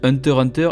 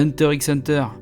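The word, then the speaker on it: Hunter × Hunter: ce que c'est et vous noterez bien que je dis hunter hunter est pas un hunter x hunter tu désolé moi les gars c'est ça la prononciation japonaise japonais battu veut dire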